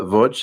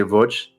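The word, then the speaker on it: Łódź: Uh and the name of the city is uh Voch. It's It's spelled like to Americans it looks like L O DZ but they say VJ.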